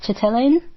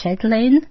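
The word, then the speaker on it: Chatelain: franchise by Mara um chellin I'm sorry if I'm not pronouncing that right it's c h a T a e l a i n so maybe it's shedlin but Mara Shin's franchise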